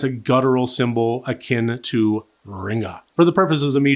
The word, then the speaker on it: Ringu: in a vocal vernacular, the U is added to the end and subsequently shows up in print that way, but it is not pronounced.